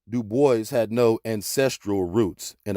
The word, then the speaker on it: Du Bois: david levering lewis w.e.b du bois yes he always insisted on that pronunciation uh he did not like the gaelic pronunciation though in his antecedents